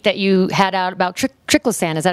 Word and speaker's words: triclosan: notice a tweet that you had out about triclosan is that how you pronounce it yeah so triclosan so i know that's bad and why is